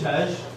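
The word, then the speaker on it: Kshitij: So my name is Shitesh. That's probably not what you get from the spelling there. The K is silent. They're spelled K-S-H-I-T-I-J.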